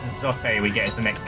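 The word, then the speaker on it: Zote: sober serious case for Zotate being the next character. Oh, okay. It's Zot. I just I still feel like he would pronounce his own name.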